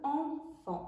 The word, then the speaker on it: Enfant: Enfant. Attention, le en au début s'écrit d'une autre façon. En avec EN. Fan. AN. Et à la fin, je mets un T que je n'entends pas.